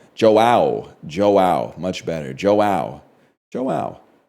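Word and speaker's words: João: You say it like Joe. Okay, I was going to say Hoeo. So Joe is Joao.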